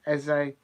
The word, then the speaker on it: Esse: Apparently, his surname, which is spelled ESSE, is spelt as if you know, if you're in a university or college and you do an essay for your lecture, you pronounce it in that way. Um, Apparently, that's how he likes to have his name pronounced.